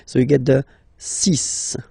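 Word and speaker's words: six: And be careful here, because even if it's ending with this X, well, you'll have to pronounce it like S, okay? So you get the 6 pronunciation.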